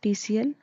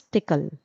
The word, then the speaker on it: TCL: language and this language we do not pronounce it TCL we pronounce it as tickle. Now as I'm telling you and as I've mentioned it earlier that in VSSI industry in EDA tools tickle is widely used.